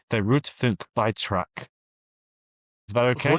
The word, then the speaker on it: Rundfunkbeitrag: this, Martin, you can correct me on my pronunciation, the Rundfunkbeitrag. Is that okay? Rundfunkbeitrag.